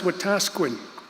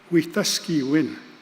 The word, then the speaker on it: Wetaskiwin: The name of that city is sometimes, unfortunately, mispronounced. People know it as Wetaskiwin. It's actually a Cree word, Wetaskiwin.